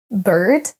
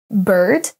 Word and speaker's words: bird: des mots le premier bird bird vous entendez quasiment un e on ne prononce pas